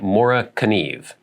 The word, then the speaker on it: Morakniv: Correct pronunciation, Mora Kniv. Yeah, I think I watched an actual publicity video from Mora, and they said, I can't say it exactly how they say it in Sweden, but it's like Mora Kniv, Mora Kniv, Mora Kniv.